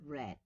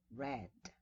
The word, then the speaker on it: read: in the pronunciation sorry in the past it becomes read the spelling is the same but the price station is read right and we have another